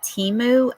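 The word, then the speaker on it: Temu: has anyone in here ever ordered from that Teemu app or website whatever it is you ever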